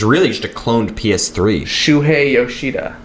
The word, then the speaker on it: Shuhei Yoshida: it's which is really just a cloned PS3 Shuhei Yoshida I think it's the first time you've ever pronounced his name correctly show monodo um what's